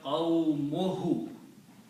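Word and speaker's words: قَوْمُهُ: But in Arabic, when you combine a noun and a pronoun, one of these dhammas is not pronounced. So this will become qawmuhu.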